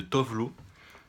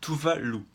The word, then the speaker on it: Tove Lo: deux fois en fait la prononciation exacte de dove l'eau c'est tuvalu et parce qu'en fait je